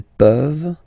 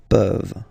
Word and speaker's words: peuvent: Je peux, tu peux, il peut, elle peut, nous pouvons, vous pouvez, ils peuvent, elles peuvent. Okay, as usual, this ending, this ENT ending, you write it, you don't pronounce it. Okay, peuvent, peuvent, peuvent.